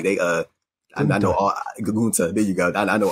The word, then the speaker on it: Gunther: Like I know all eyes are like on, Walter / Gunther and, how you pronounce his name, but like they, I know all Gunta.